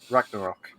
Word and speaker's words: Ragnarok: include the highly anticipated god of war iraq ragnarok that's how you pronounce it uh the service is said to